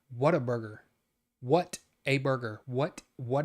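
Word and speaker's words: Whataburger: talking I'm just saying you say it like waterburger I don't say Water Burger I don't say Water Burger what a burger what a burger what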